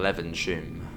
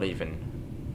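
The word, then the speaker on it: Levenshulme: And then leaven shum. Not leaving. Not not leaving sh. No lean sh. I can say it now.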